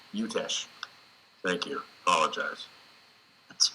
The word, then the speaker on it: Utesch: Your last name, am I pronouncing it correctly? No. No. Okay. Well, please correct me. Utesch. Utesch.